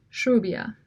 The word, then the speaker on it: rubia: Interestingly, in North and Central Argentina, the standard trill is pronounced as an sibilated trill, that is, with more of a whistle or S sound, as in shrubia.